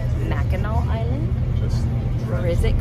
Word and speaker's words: Mackinac: The spelling included the silent C that is pronounced aw. Over time, Michilimackinac got shortened to Mackinac.